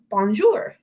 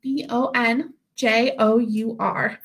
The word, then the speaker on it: bonjour: so to say hello in French you say bonjour so that one's a little bit harder to spell it's b o n j o Ur So bonjour thank you all for joining me